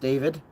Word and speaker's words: d4vd: It's pronounced David.